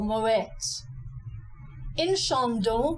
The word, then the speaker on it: Moët & Chandon: exactly the same for Moet in shond we have two nasalized vows the a n and the o n this is very easy